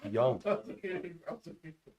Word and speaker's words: Jung: really Dave Drake says the Jung is pronounced Young if you're Korean you're good that's my